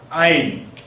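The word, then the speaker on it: ע: 아인. 아인. 그러니까 뭐 여러분이 발음을 하실 때 뭐 이러실 필요는 없습니다.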